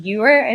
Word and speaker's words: youer: words work for him youer is not a real word but it rhymes with truer so Dr Seuss Charmed